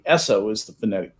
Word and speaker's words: Esso: the other companies had no territorial rights name esso is the phonetic pronunciation of the initials sno in the name